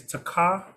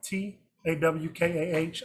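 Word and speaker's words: תָּקַע: So both of those blows are the same word, and it is takah, Tawkah. I'm pronouncing that phonetically, and it says a primitive root to clatter, that is to slap, as in hands together.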